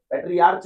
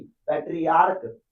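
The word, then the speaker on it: patriarch: पेट्रियर्च नहीं पेट्रियर्क।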